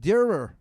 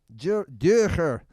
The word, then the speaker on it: Dürer: A very small price to pay for what might be a certainly mispronounced Dürer. Dürer. It's German. It has the sound in it. It has the umlauts.